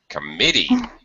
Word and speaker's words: committee: written Comm uh committee yeah oh my God oh my God yeah uh the second syllable or middle syllable is stretch this is an exception